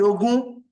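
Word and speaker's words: ogún: You see this word ogun? If you're not careful, this word, if you sound it wrongly, you can pronounce many different things.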